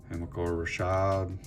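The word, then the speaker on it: Hamilcar Rashed: Hamilcar Rashad, that's how you say his name.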